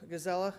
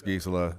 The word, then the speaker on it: Gisela: I'm looking at Councilmember Joseph Gazella. Everyone says that, there's 3 different ways to say it. But also the name is Gisela. It's named after the developer's wife.